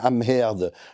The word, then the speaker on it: Amherd: simplement à permettre à Madame Amherd, je prononce son nom à l'allemande si vous me permettez, parce qu'autrement c'est une tentation à laquelle je risquerais de céder.